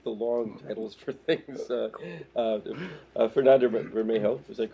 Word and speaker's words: Fernando Bermejo: Fernando Bermejo, is that correctly pronounced?